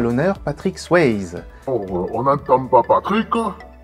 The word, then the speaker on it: Swayze: Mais en réalité, les Américains disent Swayze. Patrick Swayze donc, continuons d'utiliser la prononciation à la française, joue le rôle d'un